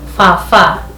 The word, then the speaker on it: baba: For example, we have the word fa-fa. Fa-fa will be written as B-A-B-A in Kikuyu. In Swahili, someone will say baba, but in Kikuyu, this is fa-fa.